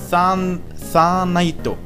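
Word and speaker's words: サーナイト: dann in Katakana umgeschrieben, aber japanisch ausgesprochen wird es im Grunde Sanaito, ja, weil die Japaner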